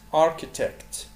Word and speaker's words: architect: accountant محاسب accountant، archaeologist archaeologist، architect arch ch منطقة كي زي archaeologist architect، astronaut astronaut astronaut astronaut،